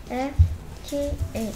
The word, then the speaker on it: fifth: F-I-F-T-H. 훌륭합니다. 그러면 발음이 어떻게 되냐?